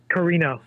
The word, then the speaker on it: Karina: Is it Karina or Corinna? How's it pronounced? Karina is how it's pronounced.